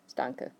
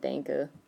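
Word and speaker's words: Danke: a whole bunch so the base word that you just need for right now Danka not Dana Dana there's another word it's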